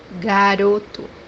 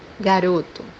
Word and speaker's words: garoto: The example that we have here is the word powder, which means in Portuguese pó, pó, The third pronunciation for this letter is pronounced as oo. Always, when it comes by the end of the word, it's pronounced as oo.